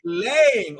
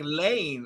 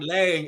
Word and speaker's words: Lang: Also, last name rhymes with bang.